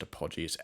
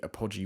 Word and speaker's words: Apogee: company called apogee i think i think it's pronounced apogee a-p-o-g-e-e um i'll leave a link in link